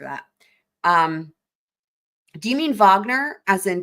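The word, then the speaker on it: Wagner: Um, I'm assuming you're talking about Vagner, but it's spelled but W A G- N R.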